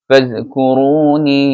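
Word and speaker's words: فَاذْكُرُونِي: ফাযকুরুনি, এখানে মাদ আছে 3 আলিফ, টেনে বলতে হবে।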